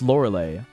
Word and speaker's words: Lorelei: It's spelled with EI at the end. Obviously, it's pronounced Lorelei.